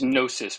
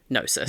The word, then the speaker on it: Gnosis: It's Gnosis with a silent G. Gnosis.